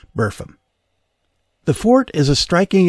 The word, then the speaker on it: Burpham: course of the centuries the pronunciation wore down to today buram the fort is a